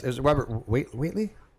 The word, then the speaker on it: Whately: Okay, how do you pronounce it? Is it Robert Whately? Whately, yeah.